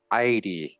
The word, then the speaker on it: Iere: and all this great land was called Edie pronounced aide and the reader May compare these Irish folklore